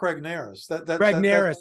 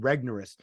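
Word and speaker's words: Regnerus: name I mean Mark ragnares oh I okay no I I just you're pronounced I didn't realize his name was pronounced like I I was thinking regneros because yeah okay I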